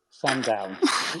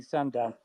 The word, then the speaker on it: Sandown: a lot of work saying that second syllable Sandown you know to actually go from one syllable to two to say sand down I mean that's quite